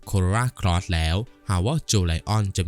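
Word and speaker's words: Jolion: หา ว่า โจ Lion ซึ่ง ชื่อ จริง ออก เสียง ว่า โจ Lion โดย ก่อน หน้า นี้ ทาง เรา ได้ มี เสียง ผิด มา ตลอด สำหรับ Power โจ Lion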